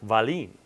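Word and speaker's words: Wahlin: name by the way i always joke the only country i've ever been to that says it right is norway um because it's swedish and it's like valine you know over there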